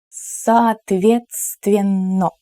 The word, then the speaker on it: соответственно: Соответственно. Yes, it's not the easiest word to pronounce, but with a little bit of practice, I'm sure you will get it. Let's do it again, syllable by syllable. Соответственно.